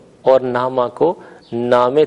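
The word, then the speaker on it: نامه: زیر کی طرف ہے۔ ہم اردو بولتے ہوئے اسے خانہ کہتے ہیں، یا اگر لفظ نامہ ہو تو اسے خبر نامہ وغیرہ نامہ کہہ کر تلفظ کرتے ہیں، جبکہ فارسی میں زیر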